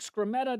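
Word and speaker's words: Skrmetta: So, the Hayrod's reporting um that public service commissioner Eric Scrammeta, did I say his name right?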